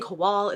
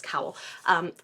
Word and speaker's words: Kowal: This is The Spare Man by Mary Robinette Kowal, which I realized I've been saying her last name wrong. It's Cowell, or Cowell? Cowell. I was saying Kowal, it's Cowell.